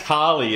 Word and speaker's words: Cali: And it's pronounced Carly as well, I'm told. So. Well, it depends where you're from.